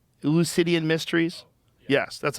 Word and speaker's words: Eleusinian: Eleusinian mysteries?